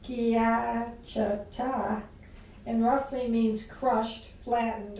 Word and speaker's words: schiacciata: In Tuscany, sciarricata, which is pronounced schiacciata and roughly means crushed,